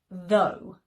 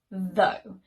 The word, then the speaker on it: though: our next word and it is though though and it is a conjunction that we use to contrast something that we have just said it's similar in meaning to but however and in spite of and in a contextual sentence we might hear he is a funny person though he can be a bit grumpy sometimes words that rhyme and that follow the same spelling pattern could be do although or furlough and words that rhyme